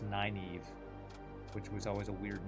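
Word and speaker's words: Nynaeve: Wheel of Time, which I always thought her name was Ninevea, but it was actually I think pronounced Naive, which was always a weird name to me, but that's almost exactly how it's spelled.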